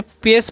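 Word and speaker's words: pace: तो आगे लिखा य पर पी ए सीई तो इसे पेश पढ़ना है क्या पढ़ना है पेश सीई है तो उसका न स हो जाएगा ठीक है तो पेश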